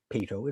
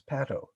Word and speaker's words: Pato: name of your character it's not pito it's pato i should have known